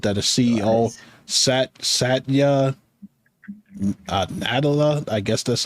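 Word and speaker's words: Nadella: says Microsoft revealed that a CEO sat Satya natala I guess that's how you say it sat SAA natala nadela yeah something like that SS like Nutella to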